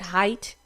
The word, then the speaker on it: Haight: I'm not quite sure how to pronounce the Haigh. Is that Height? Yeah.